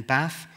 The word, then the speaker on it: Bath: previous Church in in bath that's the correct way of pronouncing it by the way put an r in it it becomes a Swiss Theologian um but actually when